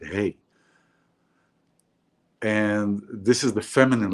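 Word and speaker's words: ה: the speech you know the fifth Hebrew letter is hey this is how we pronounce it hey and this is the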